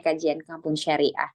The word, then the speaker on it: Kajian Kampung Syariah: Tulisannya seperti itu ya. Dibacanya Kajian Kampung Syariah.